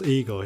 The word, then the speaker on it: Igor: you must be Igor now it's pronounced I go but they told me it was Eagle well they were wrong name weren't they you